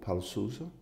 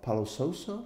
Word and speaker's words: Paulo Sousa: Today I'm with a great of European football, Paulo Sousa. Help me with the Portuguese, Paulo. Paulo Sousa? Paulo Sousa? Paulo Sousa.